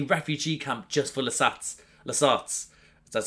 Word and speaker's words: Lasat: there's actually a refugee camp just for lats lats that's how you pronounce them and he finds more than just